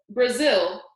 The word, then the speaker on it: Brazil: travel it was just a little joke Brazil huh Brazil rhymes with drizzle I thought it might